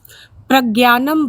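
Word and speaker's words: प्रज्ञानम्: हिंदी में क्या कहा जाता है? संस्कृत में क्या कहा जाता है? हां प्रज्ञानम ब्रह्म।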